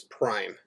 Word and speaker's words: prime: So note that this apostrophe looking thing right here we pronounce as prime.